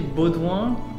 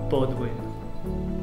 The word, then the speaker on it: Baudoin: or better it's basically actually buwan comes from Baldwin yeah I guess if you have an English accent it's Bodwin but in French it's B originally my name is